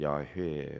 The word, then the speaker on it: 야훼: 여호와 그럴 때 여호와 공동 번역 성경은 야훼 원래 히브리어 발음도 야훼인데 그 하나님의 이름이라 그래서 유대인들은 그 성경 읽을 때 야훼라는 말을 건너뛴다 그러죠.